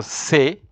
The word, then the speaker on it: ces: So then you have ces, which is pronounced also say.